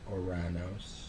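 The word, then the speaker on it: Ouranos: Uranus, who preferred to pronounce himself as Oranos, was the sky of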